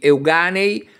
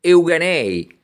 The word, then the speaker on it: Euganei: ipocrisia di cattivo gusto perfino la pronuncia dei nomi del Veneto viene comunemente storpiata dalla televisione con quasi automatica supponenza Benetton diventa Benetton Coin viene pronunciato coin I Colli Euganei si trasformano in Euganei senza che nessuno dei